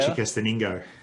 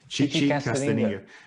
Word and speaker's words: Chichicastenango: Chichicastenango. Chichicastenango.